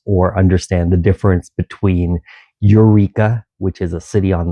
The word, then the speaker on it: Eureka: There is a Yreka, and it starts with a Y, and a Eureka, which is on the coast. So don't fail to mispronounce or understand the difference between Eureka, which is a city